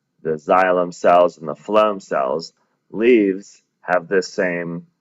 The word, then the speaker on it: phloem: The way I remember phloem cells being in charge of food is food, starts with an F, phloem cells, even though it's spelled with a PH, has that F sound.